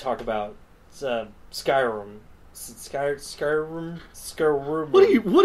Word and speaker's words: Skyrim: to pronounce that word Skyrim Skyrim sky as in there's a big thing above us Rim as in I'm going to give you a rim job job I'm look it